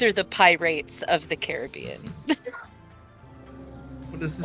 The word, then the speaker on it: Caribbean: These are the pirates of the Caribbean. What is this Or the Caribbean, depending on how you say it. I've heard it both ways.